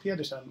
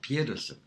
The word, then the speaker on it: Pedersen: I pronounce it Pedersen when I'm in Sweden. Yeah. Pedersen.